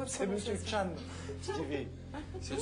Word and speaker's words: Tchan: Ça ne se prononce pas de la même manière. C'est pas Monsieur Chu, c'est Monsieur Chan. C'est Chan.